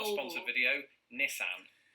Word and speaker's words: Nissan: not a sponsored video nissan that is the silliest pronunciation is it look it begins with niss nissan which you know